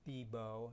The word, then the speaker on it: BIBO: So there's an acronym that's you can pronounce BIBO, if you want to call it that, bounded input, bounded output.